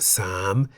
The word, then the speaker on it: สาม: Why the rising tone? Well, the single syllable in the word sam is a live syllable because it has a sonorant final consonant ma.